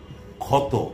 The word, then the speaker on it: ক্ষতি: আমি মনে করিয়ে দিচ্ছি কিছু উদাহরণ, যেমন ক্ষত, ক্ষয়ের মতো শুরুতে, ক্ষমা, ক্ষান্ত, ক্ষতি শুরুতে বসলে ক্ষয়ের মতো উচ্চারণ হয়।